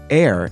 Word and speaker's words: err: of the word error, I took a look at the pronunciation of the word spelled E-R-R. I gave David credit for pronouncing it correctly as but I should point out that while David's is the more courageous choice, air is still considered acceptable.